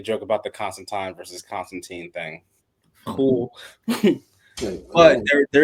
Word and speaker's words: Constantine: By the way, do you know it's pronounced Constantine? Constantine.